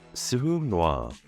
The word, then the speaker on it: sureau noir: Black Elder is known in French as Suum Noir. It's pronounced sur u r e a u noir n o i r.